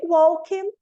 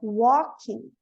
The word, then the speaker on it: walking: A pronúncia dessa palavra, walking, lembra que a gente não pronuncia esse L.